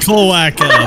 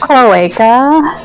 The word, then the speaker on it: cloaca: This year's hottest album is Yoshi's Huge Eggline Cloaca by Boris the Soviet Love Hammer. It's pronounced cloaca. Cloaca.